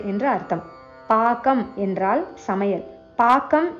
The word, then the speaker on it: பாகம்: பாக்கம் என்று உச்சரிக்க வேண்டும், பாகம் இல்லை.